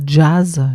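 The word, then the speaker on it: JAS: Il y aurait 3 lettres, moi je prononce ça jazz, J-A-S, J comme justesse, c'est-à-dire ce qui est juste pour soi déjà, avec comme boussole vous avez votre corps.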